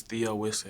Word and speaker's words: Theo Wisseh: A lot of people get confused and say the O Wisseh or the Owen or something like that.